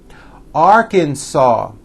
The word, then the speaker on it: Arkansas: me Alabama Alaska Arizona Arkansas the final s is silent California Colorado Connecticut Delaware